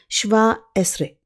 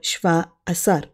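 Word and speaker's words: שבע עשרה: In Hebrew, 17 is pronounced as Shva Esre or Shva Asar, the most common pronunciation being Shva Esre.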